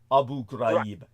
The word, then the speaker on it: Abu Ghraib: Hey, by the way, the pronunciation is Abu Ghraib.